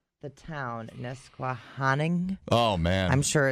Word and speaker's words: Nesquehoning: How to pronounce it. Oh, you need you got it? Yeah. Nesquehoning. Nesquehoning.